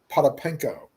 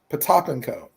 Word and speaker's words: Potapenko: was vitelli and at first we called him potapenko but the real pronunciation was supposed to be patapenko the topico he was he was on the